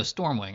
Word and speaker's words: Stormwing: No, Stormwing. I always pronounce this wrong. There used to be things called S T R O M, but this isn't one of them. This is Storm Wing entity.